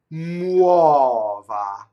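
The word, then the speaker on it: muova: Muɔva. So U, A, A are your vowels, and you must get all of them, right?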